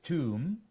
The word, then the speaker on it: tomb: t-o-m-b b-o-m-b and c-o-m-b the first one is Tomb the second one is bomb and the third one is cone so same spelling o m b for the three words but every word is pronounced differently even British people don't know why are confused but they know that it is pronounced like this they call it crazy